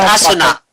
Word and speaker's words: Asuna: Oh, It's pronounced Asuna.